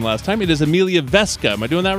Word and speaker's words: Weske: Keely or Max Brown and I apologize for mispronouncing your name last time it is Amelia vesca am I doing that right that's correct all